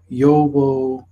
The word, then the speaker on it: Yahweh: a similar case to how we guess that Yahweh that is you'd hey whoa hey is pronounced Yahweh but we actually do not know for sure this is simply the modern best guess it could just as easily been yeo-hwa yeo-hwa yeo-hwa etc i would assume that